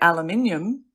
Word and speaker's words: aluminium: But I didn't know there is a difference in pronunciation because British people say aluminium and Americans say aluminum.